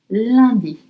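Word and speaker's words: lundi: And it's spelled L L U N D I Liy. Landy.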